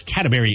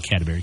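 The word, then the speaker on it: Cadbury: my wife loves those catry eggs the like the cream filed or caramel say catry catry not catberry catry no I did say it you're right I said it wrong catberry eggs why what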